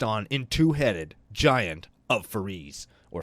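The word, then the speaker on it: Foriys: They spelt 4 eyes purposely incorrectly, but they wanted it pronounced as 4 eyes, but they didn't want to write the word 4 or the number 4 on the name line for the card.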